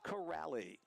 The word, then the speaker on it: Corelli: before the game and he says it's Trent corrali I talked to three